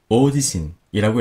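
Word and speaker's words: 大地震: 하지만 대지진이라고 할 때는 이 지진은 한자어지만 오지신이라고 읽습니다.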